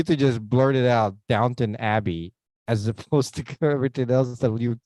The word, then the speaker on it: Downton Abbey: thought I'd throw that in there is it downtown uh Abby is it isn't it Dalton Abbey or something okay let's just go with the crown it's easier to pronounce Downton Abbey yeah no I've never actually seen it that's